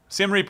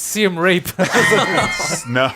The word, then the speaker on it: Siem Reap: over on the coast Sam Reid was actually the name of the no he's mispronouncing it's seem rape oh gosh Morgan Jr